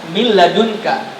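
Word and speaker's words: مِن لَّدُنكَ: Kalau kita baca ini, bacanya min ladunka, tanpa ada peran hidung, nggak ada min ladunka, nggak ada, murni min ladunka, ya.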